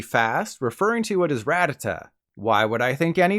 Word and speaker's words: Rattata: Pokemon's name really fast referring to what is Rattata why would I think any differently it's literally spelled like that but the Pokemon company really likes destroying people's hopes and dreams so it's actually called Rattata this makes no sense to me there's clearly